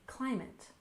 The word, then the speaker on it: climate: we have climate anxiety we stress the first syllable you remember in climate climate and anxiety we stress